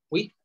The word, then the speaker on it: au: Oui, A-U, que se pronuncia O.